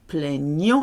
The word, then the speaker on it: plaignons: Nous plaignons is really gne, gne, gne. GN is a gne sound.